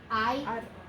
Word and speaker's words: aire: Aire, aire, okay? Just 2 syllables.